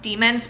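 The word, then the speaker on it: daimon: literally read it as damon the whole time there's a pronunciation guide in the beginning and it's pronounced demons but it was so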